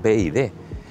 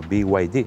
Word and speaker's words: BYD: nombre como os decía el nombre es bid en teoría se escribe by yd eh en los mercados anglosajones tú escuchas algún anuncio de la marca y dicen eso by yd sin embargo Pues en España se dice bid la explicación No lo